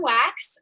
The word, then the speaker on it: Wachs: uh hi i'm wax um my last name is a weird one it's a austrian german jewish thing so it's wachs but it's pronounced like wax you're back um i